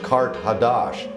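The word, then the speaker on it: Qart-hadasht: of Atlantis Car carage in the ancient language is pronounced Kart hadash and that means new city so it was a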